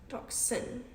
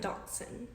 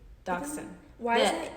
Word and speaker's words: dachshund: dachshund duck duck dachshund toxin toxin like d-d-a-c dachshund dachshund dachshund h is silent oh my gosh my